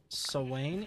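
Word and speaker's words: Samhain: It's pronounced Sawain. It's Gaelic night of the Fae and the Dead.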